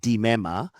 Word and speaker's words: Limema: My surname is pronounced DMA. I think uh, just a small quirk in the Sutu language. So in Suzutu whenever you see an L I is pronounced D and even an L U is pronounced D.